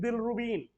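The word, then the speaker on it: bilirubin: बिलरुबिन, बिलरुबिन, the original name is and original pronunciation is बिलरुबिन, और यही बिलरुबिन का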